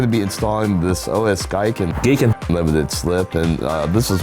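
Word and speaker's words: OS Giken: In this episode, we're going to be installing an OS Geiken. It's pronounced Geekin.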